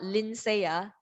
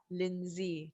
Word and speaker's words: Lindsay: michelle the second one is lindsay not linseya lindsey lindsey so do highlight it thank